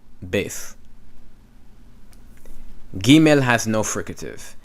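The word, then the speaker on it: בית: Okay, so when you see bef here, they pronounce it bet. Same thing with the Sephardic Jews, okay? They pronounce it bet. I pronounce it beth.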